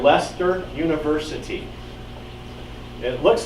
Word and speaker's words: Leicester: and teaching in England and the University called Leicester University it looks like it's spelled like sister but it's actually Leicester to pronounce Leicester and he does genetics research and I found